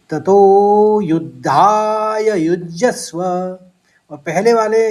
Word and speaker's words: युज्यस्व: युज्यस्व 2 आघात देने हैं, यौ का लिए जौ का आघात और यौ के ऊपर फिर सौ का आघात। तो ततो युद्धाय युज्यस्व, और पहले वाले यौ